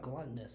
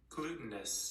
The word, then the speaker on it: glutinous: is that oh listen it's not like gluttonous is it um like a glue in texture sticky can you click on that sound button make sure we're saying it correctly glutinous okay good I just